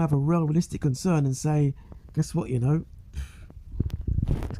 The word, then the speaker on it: Sina: But as it stands, no, rest in peace, SA, that's how it's properly pronounced.